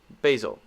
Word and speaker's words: basil: Okay, some people say basil, some people say basil. Common American pronunciation, basil.